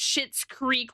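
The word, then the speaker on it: Schitt's Creek: Yeah, it's pronounced shits creek like sh hi ts, but it's a it's actually ch.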